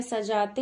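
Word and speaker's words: सज़ा: देखिए, सजा, सजा, तो सजा का मतलब क्या होता है, सजाना। कोई भी चीज आप डेकोरेट करते हैं, सजाते हैं, तो सजा का मतलब सजाना।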